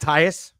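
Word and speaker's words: Thaiss: Matt Tyus.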